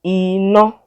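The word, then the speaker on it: iná: go let's try it we said the word is pronounced inno so let's try the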